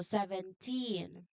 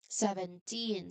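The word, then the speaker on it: seventeen: So there is also a very clear t sound at at the end. So 17 17 say it with me 17 17 which means 10 + 7.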